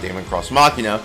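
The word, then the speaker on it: Daemon X Machina: or Damon cross machina isn't properly pronounced Damon cross machina which is made by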